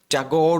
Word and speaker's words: ঠাকুর: আচ্ছা, the parrots tell, and এটা লিখছেন হচ্ছে রবীন্দ্রনাথ ঠাকুর, যেখানে যদিও হচ্ছে এটা হচ্ছে রবীন্দ্রনাথ ট্যাগর উচ্চারণ করে অনেকে, মানে অনেকে বলতে আমি ধরেন ব্রিটিশরা, বা ইংরেজিতে তাকে ট্যাগর লেখা হয়।